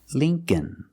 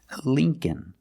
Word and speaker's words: Lincoln: e is Li link Lincoln Lincoln the second L is silent so it's remember the first syllable is a long e like green beans Lee Lincoln so remember when